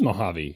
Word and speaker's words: Mojave: were doing it wrong it is it is Mojave he was right but but it seems like Californians can't even agree on their own pronunciations CU like other Californians were saying Mojave other Californians were saying Mojave they're not n they're not California natives they're